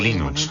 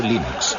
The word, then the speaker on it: Linux: La primera pregunta de la categoría fácil es: ¿cómo se pronuncia Linux? Bueno, yo Linux lo pronuncio Linux. Sin embargo, si fuese Linus Torvalds, no hay duda de que lo pronunciaría Linux. Claro que si uno es de la costa oeste de los Estados Unidos, lo más seguro es que lo pronunciaría Linux. Pero a Linus Torvalds le importa un bledo cómo pronunciéis Linux siempre y cuando lo utilicéis.